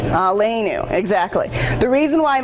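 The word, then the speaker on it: עלינו: That's how that's pronounced, Shema. Say it. Shema. Yeah. Amidah. Amidah. And Aleinu. Aleinu.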